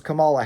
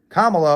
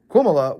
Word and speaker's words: Kamala: funny too because if you call Cala Harris Camala Harris they call you racist because you intentionally got her wrong her name wrong even though Cala actually sounds more black than the actual pronunciation of her name Kamala or kumala which is what Viv R Swami